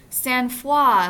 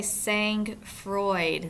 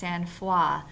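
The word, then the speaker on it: sang-froid: head but it's pronounced sanfa must be a French influence here so it's a noun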